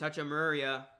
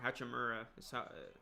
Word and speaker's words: Hachimura: three he's short here's hachimurya i think he's gonna be really good rui i think he's got a very bright future ahead of him i said it wrong hachimura he uh he misses